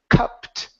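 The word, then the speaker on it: cupped: a uh sound C and then we have an ed ending this will sound like a t so the word is cupt cupt cup there you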